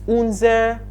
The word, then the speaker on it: unser: That is unser Fernseher. Take note of the pronunciation, unser.